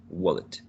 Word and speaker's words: wallet: The pronunciation is different, and also it's different, and also the word stress. In the first three, the word stress is in the second syllable, whereas in the last one, the green option is in the first one, wallet.